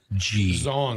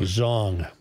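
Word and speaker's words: Xiong: How do you pronounce X-I-O-N-G? Zong. Zong.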